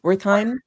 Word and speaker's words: Wertheim: to lead the Herbert uh, Wertheim, am I pronouncing it correctly? Wertheim Yeah.